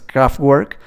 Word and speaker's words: Kraftwerk: Bueno, si es en inglés es Kraftwerk, o en alemán me parece que se pronuncia Kraftwerk.